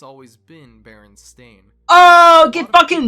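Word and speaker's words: Berenstain: Baron stein bears well most people would say Baron Stein but actually it's always been Baron stain oh get dunked on idiots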